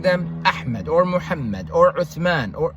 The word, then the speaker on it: Uthman: Every time when Eritreans, they name, their children, they're always naming them Ahmed or Muhammad or Uthman, which is pronounced Usman because Tha doesn't exist in the Ge'ez alphabet.